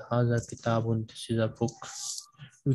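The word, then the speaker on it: هذا: the pronunciation that in haza there is an extra alif between ha and zhal which is pronounced but not written so this is a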